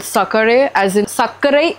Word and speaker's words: sakare: And it is called sakare, as in sakare is sugar in my language in Okay. India, and how it became sucre in French. Yeah. So we have sakare with the accent on the E.